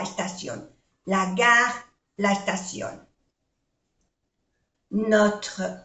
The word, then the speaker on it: Notre: Notre école, no se pronuncia la E.